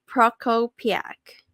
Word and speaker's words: Prokopiak: Let's welcome a dedicated and accomplished real estate agent to the show, Chris, Christopher Prokopiak.